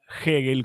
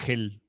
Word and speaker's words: Hegel: aprendan que es hegel se pronuncia hegel Como puse ahí entre comillas y no le digan es el gel yo no me voy